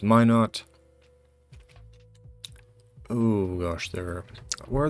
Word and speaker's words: Minot: north dakota south dakota which is actually pronounced minot oh gosh there where